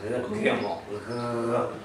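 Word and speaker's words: גימל: Gimel. Almost becomes fricative in the back of the throat, like you're kind of vibrating in the back of the throat.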